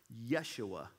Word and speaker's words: Yeshua: If you were to look at his name in Hebrew, Joshua would be pronounced Yeshua.